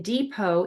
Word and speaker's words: depot: or is voiced, and the final T in depot is silent.